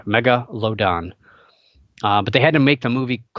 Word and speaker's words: Megalodon: movie out and it's a Megalodon which apparently nobody can pronounce it's not that hard mega load on but they had to